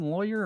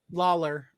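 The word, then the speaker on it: Lawlor: and spell it wrong is it Tom lawyer or Tom Lawler Lawler but yeah I think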